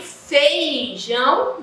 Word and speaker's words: feijão: Para vocês observarem que quando eu falo, eu digo assim, eu digo feijão, não, eu digo feijão. Eu não pronuncio o I.